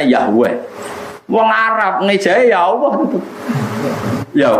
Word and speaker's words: Yahweh: W dengan huruf kapital Eden huruf kapital dengan bacanya Yahweh wong Arab meja yaopo yo wes ono santri